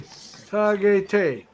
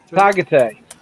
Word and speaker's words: Tagaytay: Mabel says it's pronounced T-A, then gay, then tay. Say Tagaytay. Tagaytay.